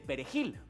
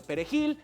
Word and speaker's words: perejil: Entonces, los soldados traían una pequeña rama de perejil y les decían, "A ver, ¿cómo se llama esto, señor? Y si hablabas español, podías pronunciar bien la J de Perejil.